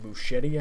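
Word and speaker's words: Muschietti: the lines here but any machete I believe is how you pronounce his name he directed both it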